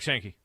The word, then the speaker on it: Sankey: When the SEC commissioner, how do you pronounce his last name? Sankey? Yeah, Greg Sankey.